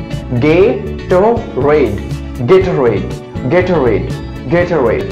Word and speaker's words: Gatorade: Correct pronunciation of this drink is Gatorade.